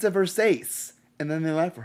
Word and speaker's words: Versace: buys a dress and says thanks it's a Versace and then they laugh for her and they're like uh Versace he's like what it's pronounced Versace I've never seen this movie I've seen half